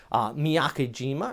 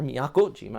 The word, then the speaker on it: Miyakojima: go ahead through friday morning you also got miyakejima or miyakojima i should say back here towards the west